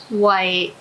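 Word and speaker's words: 喂: you have to remember the white has to be in second tone when you answer the phone why e if you pronounce the white in third tone why it's similar to the english word hey which is usually used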